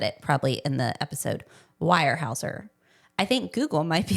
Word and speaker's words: Weyerhaeuser: And you pronounce the word as Weyerhaeuser, not like, I think I was pronouncing it like a Weimaraner. Yes, But yeah. this is more like, okay, so Weyerhaeuser.